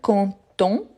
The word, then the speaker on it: content: ici je vous rappelle conton on ne prononce pas le T et contente contente donc